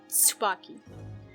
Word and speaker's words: Tsubaki: You know, Tsubaki in the Japanese version of the game, his name is actually Tsubaki. It has a T in the beginning, so T-S-U-B-A-K-I.